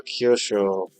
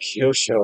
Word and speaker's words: Kyosho: Is that a mug or Kosho? This is the Mugin the one that they made like zero updates to but new car. So, hell yeah. Somebody on Facebook was like, "You you you mispronounced Kyosho."